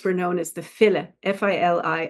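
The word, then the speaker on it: filí: known as the fil f i l i I used to pronounce it phy but I believe it's fil and they are sear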